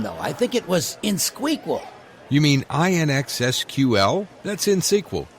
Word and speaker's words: INXSQL: Harry, it's InSQL, INXSQL. You don't pronounce the X.